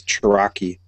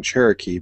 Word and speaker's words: Cherokee: eldest mispronounces things uh today was chiraki it's your Rocky it's that famous American Indian Pokemon reads it and doesn't know she'll pronounce how she thinks it is so yes we're saying Cherokee but she read it first so is chiraki in her mind so it's like interesting